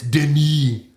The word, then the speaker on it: Denis: His name is spelled Dennis, but it's not Dennis, it's Denis.